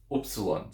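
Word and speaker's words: upsilon: one is opson opson opsilon so in arasan Greek it has the o sound as in book okay so that double o sound as in book or hook so opsilon opsilon now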